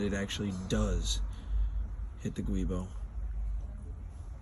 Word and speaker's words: Guibo: So our issue here is that it actually does hit the Guibo. I've been told it's pronounced Jubo.